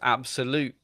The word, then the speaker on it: Abxylute: was like, "Oh, have you heard about this Absolute handheld thing?" And I was like, "What?" And it's spelled ABXYLUTE, and it's 170 quid.